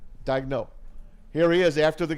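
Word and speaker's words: Daigneault: Is that how you pronounce his name? Yeah, Dagno. Dagno.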